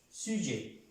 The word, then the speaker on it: sujet: pronuncia, les prénoms personnels, sujet, esta T no se pronuncia.